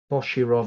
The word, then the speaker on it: Boshirov: Boshirov and Petrov. Yes. You pronounced it far better than I did. Oh, I'm just faking it. Okay. It sounded convincing. I love it, Petrov and Bushirov.